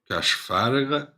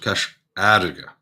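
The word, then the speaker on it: Cois Fharraige: But you see, so in that dialect, you wouldn't call it Cashfarraga, you would call it Casharga, because FH you never pronounce.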